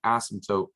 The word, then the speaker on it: asymptote: line here called an asymptote weird spelling i know silent p in there the asymptote is that